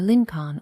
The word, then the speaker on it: Lincoln: of the United States Abraham Lincoln is actually pronounced closer to Lin con or linol that's why textbooks often